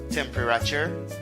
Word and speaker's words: temperature: Est-ce que c'est bonne prononciation ça? Temperature?